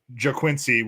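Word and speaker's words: Ga'Quincy: No, it's I'm pretty sure it's pronounced JaQuincy, which is G-A''Quincy.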